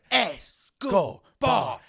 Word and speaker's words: Escobar: Escobar.